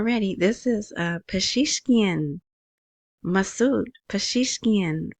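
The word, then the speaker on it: Pezeshkian: This is Pashishkian Masoud Pashishkian. Finally, I know how to say his name. At least that's how they say it on the news in Baghdad.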